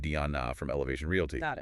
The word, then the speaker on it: Deanna: Our source here is the actual listing um very detailed provided by the agent Diana Dick that's pronounced Diona from Elevation Realy.